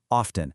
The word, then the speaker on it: often: They often go to the park. Here, the main verb is go. Oh, and a quick tip on pronunciation. A lot of the time that T is silent. Listen, often.